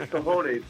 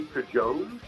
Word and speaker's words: cojones: Because I know I've heard cojones before. I am not sure if I heard somebody else recently mispronounce it and say cajones, or which I think might